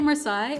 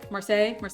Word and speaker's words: Marseille: It helps that the L's aren't pronounced, you know?